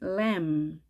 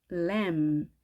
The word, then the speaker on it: lamb: 그리고 새끼 양은 lamb, lamb. B가 발음되지 않습니다.